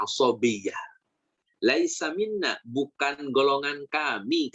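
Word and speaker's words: عصبية: Ini dibacanya asabiyyah.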